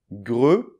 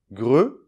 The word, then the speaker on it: grenouille: côté, et du coup, on est bien obligé de prononcer bien clairement le son [ə].